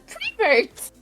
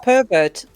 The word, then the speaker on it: pervert: remember she would always call me a prevert cuz she's a prevert again a what a prevert instead of pervert Yeah she couldn't pronounced